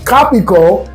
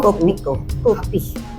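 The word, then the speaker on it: Kopiko: Copico. Did I say it wrong? Copico. Copico. Copico. I gotta do my lips like you. Copico. Okay, Copico is what I like to drink. I just say Capico.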